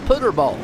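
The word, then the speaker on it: Puterbaugh: You got a pronunciation for Peter. Pooter. What I get? It's pronounced Put. Pooterball. Put-er-ball. Putterball.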